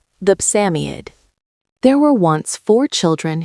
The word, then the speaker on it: Psammead: Samiad is pronounced Samiad.